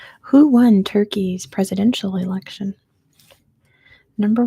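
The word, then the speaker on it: Türkiye: And yes, it's still pronounced Turkey. It's just spelled differently.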